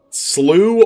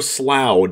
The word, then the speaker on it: Slough: shown in this land it is slew or slough depending on where you come from so there's three ways